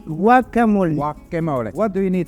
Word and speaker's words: guacamole: the avocado fretch it's guaca how do you pronounce it gu guacamole guacamole guacamole what do you need for the guacamole